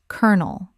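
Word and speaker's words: colonel: The word kernel looks like it should be col-o-nel, but it is actually pronounced kernel.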